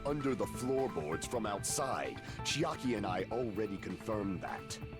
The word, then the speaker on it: Chiaki: Isn't that right, Chiaki? Chiaki. Oh, you're What? right. That's how you pronounce it?